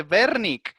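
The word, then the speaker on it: Wernicke: exacto el área de berni con ese que la doble use la pronunciamos como si fuese un ave por lo consiguiente lo dijo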